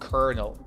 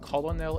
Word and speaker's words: colonel: Yes, it's pronounced colonel, not colonel. That is something crazy. It's a military rank. Even though it looks like colonel, it's colonel.